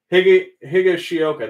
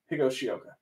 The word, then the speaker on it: Higashioka: Higashioka. That's how you say it. You're right. Alex Wood, Jake Newberry, Jeffrey Rodriguez, and Aaron Judge. Well, you got Bryant, Lux, Aquino, and Darren Jeter. Higashioka.